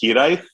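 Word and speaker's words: hiraeth: here ate it's spell it's a welsh word it's spelled h-i-r-a-e-t-h so it is definitely going to be a difficult one for people to pronounce it's actually pronounced hedith but i will never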